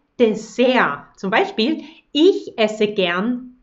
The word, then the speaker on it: Dessert: Also wir sagen nicht Dessert, da ist kein T, wir sagen nur Dessert.